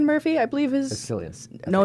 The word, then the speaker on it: Cillian: But the problem is the main actor, Cillian Murphy, I believe is... Cillian.